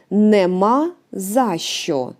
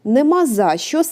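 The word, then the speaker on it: нема за що: and the final is Nema zasho nemaza shows three words which we pronounce like one word together and here we can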